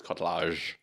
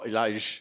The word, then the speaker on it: Kotlarz: No, I met enough Polish people in my time in Vietnam to figure out how to pronounce my name. It's Kotlarz. Oh, Laj.